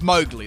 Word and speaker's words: Mowgli: I think it's Mowgli. That's how you say it. Like you mow the lawn with glee.